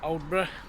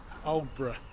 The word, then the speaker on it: Aldeburgh: So, we're at Odra. Obra. So, I've asked a couple of locals how they pronounce it. So, they said old.